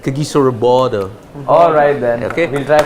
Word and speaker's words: Kagiso Rabada: That's how Pollock pronounces it, no? The South Africans pronounce it. Kagiso Rabada.